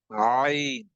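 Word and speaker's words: ع: The next word is ayn. Ayn will has to be pronounced with the middle of the throat.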